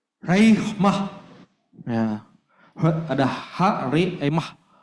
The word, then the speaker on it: rhema: Dalam bahasa Yunani ya, pronunciation-nya raihmah.